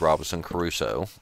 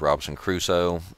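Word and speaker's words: Robinson Crusoe: just watched television for a while it was Robinson Caruso I know it's pronounced Robinson cruso but I used to watch Gilligan's Island as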